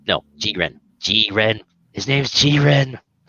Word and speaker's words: Jiren: And this guy, his name pronounced in Japan in the subs is Jiren, but everyone in the dubs is calling him Jiren. Is like, no, Jiren.